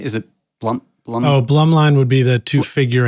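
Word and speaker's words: Blumlein: Oh, Blum line would be the two figure eights.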